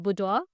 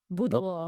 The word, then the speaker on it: boudoir: So I do behind closed door shots like Boudoir. Boudoir. okay. That's how you pronounce Okay, it.